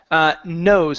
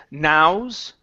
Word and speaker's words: nose: Let's go to nose instead of nows.